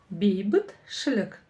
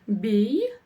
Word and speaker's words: бейбітшілік: Бейбітшілік. Нам это ведь сейчас пригодится, да? Все как обычно, делим по слогам. Бейбітшілік. Бейбітшілік. Ударение будет стоять на первом слоге.